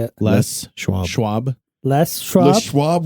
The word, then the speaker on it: Les Schwab: It's Les Schwab. Les. Les Like Schwab. Les- You Olsen. notice there's a capital L, a space, and then a capital S, right? Oh, it's Le Schwab. It's not. No, it's Les Les is the Schwab. first name of the guy who started the company.